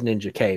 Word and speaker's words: Ninjak: But yeah, I mean they refer to him as Ninja K, but I grew up with Ninjak, so he's Ninjak.